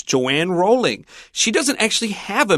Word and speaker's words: Rowling: Rowling herself pronounces it Rowling, and so if you hear an American say the name, it may be a little bit different.